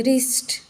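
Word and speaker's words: wrist: के पहले आया है रिस्ट आर के पहले डब्लू आया है यहां भी व साइलेंट हो गया य हम प्रोनंसिएशन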